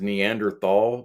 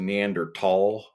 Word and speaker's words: Neanderthal: ancestors um you know I always thought it was pronounced Neanderthal but it's actually neander tall um or that's how these other people were pronouncing it but